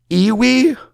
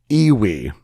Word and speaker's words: EWI: EWI stands for Electronic Wind Instrument, and it kind of looks like oboe-ish, but it's electronic, and I guess it's pronounced iwi.